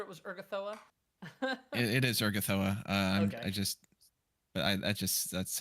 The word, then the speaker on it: Urgathoa: It is Urgathoa. Okay. That's how I used to pronounce it, and it sounds nice.